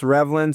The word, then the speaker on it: Reavlin: So if you type in Revlin, you're not going to find me, but because my name is Reavlin. So it looks like Reavlin, but it's pronounced Reavlin.